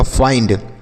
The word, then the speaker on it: find: जैसे एफ से लिखेंगे फ, उसके बाद आई के बाद ND है तो आई होगा, और N से आधा और D से डाई लिखा गया फाइंड।